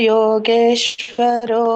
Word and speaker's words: ಯೋಗೇಶ್ವರ: ಇನ್ನೊಮ್ಮೆ ಹೇಳಿ ಯತ್ರ ಯೋಗೇಶ್ವರೋ ಕೃಷ್ಣೋ ಅಲ್ಲಿ ನೋಡಿ ರ ಇದೆನ ರೋ ಇದೆನ ಇಲ್ಲಿ ಯೋಗೇಶ್ವರ ಯೋಗೇಶ್ವರಹೃಷ್ಣ ಯತ್ರ ಯೋಗೇಶ್ವರೋ ಕೃಷ್ಣ ರೋ ಯಾಕೆ ಹೇಳ್ತಾ ಇದ್ದೀರಾ ಮತ್ತೆ ಯತ್ರ ಯೋಗೇಶ್ವರ ಕೃಷ್ಣ